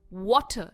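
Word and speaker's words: water: इसमें भी are pronounce नहीं होता है। जो एन का इ है वो अ का साउंड लेता है। इट्स व ट वाटर। डिफरेंस देखिए। वाटर एंड वाटर। तो व पर इसका स्ट्रेस है।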